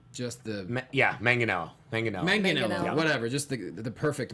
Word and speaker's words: Manganiello: Adam's gonna tell you hard G. Just the Manganiello.